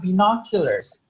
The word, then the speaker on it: binoculars: Okay, so first, how do we say this is not binoculars, but it is binoculars? Okay, how do you say it again? Binoculars. Exactly, Binoculars. binoculars, not binoculars.